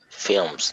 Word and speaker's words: film: So the L is normally a bit swallowed. Her L shows. Film. You could hear the L from her pronunciation. So normally we do flush the L into the M. Film.